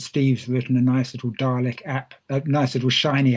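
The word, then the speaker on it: DARLEQ: The result of this as her said was um a metric um which dietms for assessing river and lake ecological quality is pronounced dalek um and there's a team of us involved with this um Steve Juggins was doing the quantitative part.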